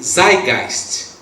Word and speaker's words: Zeitgeist: É uma palavra que diz assim, pronuncia assim, Zeitgeist.